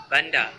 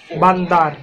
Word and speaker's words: bandar: Bandar. In Indonesian, Malaysia bandar say bandar. Indonesia say kota. Channel, rather than a city. Notice that the final R is silent in many Malay accents, including the mainstream Johor, Riau, Selangor.